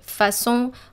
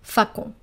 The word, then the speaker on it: façon: Do not forget the cédille below the C here in ça and façon, otherwise you would be pronouncing those words as ka and facon.